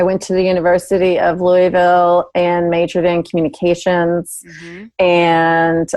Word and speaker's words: Louisville: up in Louisville Kentucky if I say it properly it's Louisville and eventually stopped no too many syllables Jenny it's it's like one long sentence a syllable and a half yeah stop that eventually